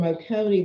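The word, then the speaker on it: Oconee: removed but up here um across from um okone is that how you pronounce it yep across from okone there's this teeny little uh teeny little par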